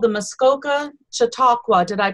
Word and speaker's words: Chautauqua: they're involved with that it's called the Muskoka Chautauqua did I pronounce that right Gary you're doing wonderfully good